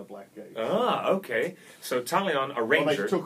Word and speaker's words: Talion: It's pronounced Talion. It's pronounced Talion.